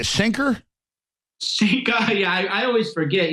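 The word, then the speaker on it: Cenk: we should really investigate how do you say Sinker Sinker yeah I always forget yeah CUA I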